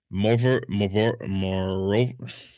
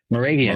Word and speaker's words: Moravian: Um the let me hopefully I'm pronouncing this correctly. The Moor Morov Moravian Moravian.